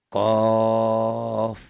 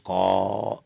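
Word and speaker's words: ق: Dibacanya qaf gitu ya, jangan ko, enggak boleh. Jangan dibaca ko, tapi qaf aslinya ya. Huruf aslinya ini qaf.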